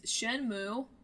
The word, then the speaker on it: Shenmue: yeah so our old game this week is shenmo which that's how you pronounce it we looked it up y there's